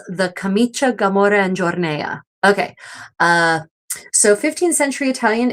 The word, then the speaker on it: giornea: pronounced camicia, gamora, and giornea. So yeah, anytime you have that I after a C or a G in Italian, the I is not pronounced. The I softens that sound, the consonant that precedes it.